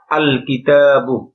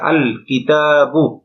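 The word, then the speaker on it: الكتابُ: গিয়েছে এক পেশ হয়েছে আল কিতাবু এখানে লক্ষণীয় বিষয় দুইটা একটা হল গিয়ে লামটা স্পষ্ট আলাদাভাবে উচ্চারিত হয়েছে যেমন আল লাম উচ্চারণ হয়েছে আল কিতাবু বন হয়নি তোঅনপভাবে প্রত্যেকটা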